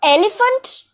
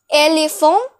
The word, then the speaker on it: éléphant: This slash means that the E will not be pronounced as E, but it shall be pronounced as A.